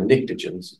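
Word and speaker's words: pnictogens: These are nictogens, starts with a P. P is silent.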